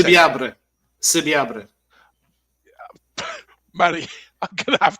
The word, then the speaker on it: Subiabre: Subiabre. Manny, I'm going to have to learn that one if this guy signs. Subiabre.